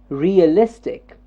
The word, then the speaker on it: realistic: realistic realistic yes realistic what part is jumping up here realistic realistic the is realistic the third syllable realistic realistic the third one jumps up to see realistic the is has to get the stress realistic realistic good realistic